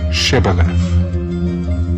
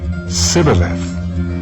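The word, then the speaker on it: shibboleth: would say to him then say shibalev and he would say sibeleth for he could not pronounce it right then they would take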